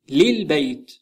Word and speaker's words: للبيت: Say for the house للبيت للبيت Notice the alif before البيت is omitted and now we have double lam. So it is pronounced لل Say the room الغرفة الغرفة